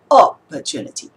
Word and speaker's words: opportunity: When we say the word opportunity, and because in this particular word, the syllable we emphasize is the third syllable, it's not the first syllable.